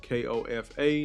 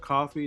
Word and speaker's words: Kofa: y'all rocking with me this is Kofa k-o-f-a not coffee not not Kofi Kofa rhymes with sofa growth Talk podcast gentlemen